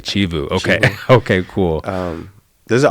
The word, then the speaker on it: Chivu: Chivu, she taught me how to say yeah. I'm saying it wrong. I'm saying it the anglicized way. Chivu.